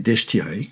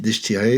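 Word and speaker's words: Deichtine: Et le roi Conor avait une sœur qui s'appelait Deshtiré, je prononce à la française, une femme absolument somptueuse,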